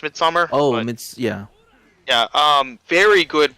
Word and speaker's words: Midsomer: It's Midsomer. It's pronounced Midsummer.